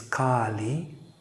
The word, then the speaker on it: Kali: One is Kali, so the goddess, cosmic power, Kali, which is with a big A, long A.